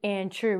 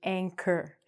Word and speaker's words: anchor: So, um we don't say anchour, we say anchor.